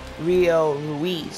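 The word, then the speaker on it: Rio Ruiz: up rio oh yes two in one count rio louise that's how you say it my mistake two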